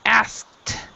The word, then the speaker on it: asked: So if there's a K at the end, it's always a T sound.